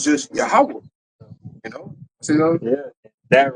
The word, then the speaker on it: Yahweh: Yehovah. Right. In which, in the Paleo Hebrew, right, there are no B's and there are no E's in the Hebrew, man.